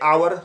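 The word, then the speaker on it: hour: He will take a आवर। तो हालांकि H silent है, एच कॉन्सोनेंट साउंड है, लेकिन यहाँ पर एच साइलेंट जैसे रहोगा तो एन आवर to finish this work होगा।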